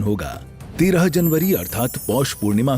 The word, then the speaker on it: Paris: पेरिस नहीं, पेरी। तुम्हारा pronunciation भी ना तुम्हारे इरादे की तक।